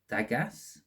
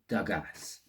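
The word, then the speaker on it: Dagaz: book there we go let's see the pronunciation it is oh it's dougas okay uh so dogas is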